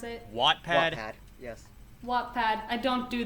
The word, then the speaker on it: Wattpad: like posted like a few fan fictions to wack pad is that how you pronounce it wattpad yes wattpad i don't do the english today